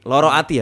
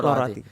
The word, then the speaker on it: Lara Ati: Tadi lu bahas tentang Loro Ati ya, bacanya Loro Ati.